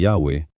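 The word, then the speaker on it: Yahweh: Subalit dahil ang Yahawe ay hindi na binibigkas ng matagal na panahon, ang eksaktong kombinasyon ng mga patinig ay hindi tiyak. Ang pinakakaraniwang rekonstruksyon ay Yahwe.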